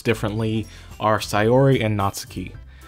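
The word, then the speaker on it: Sayori: know pronounce differently are sori and natsuki sori uh I just try to pronounce like I'm pretty sure it's how it would be pronounced in Japanese and same with natsuki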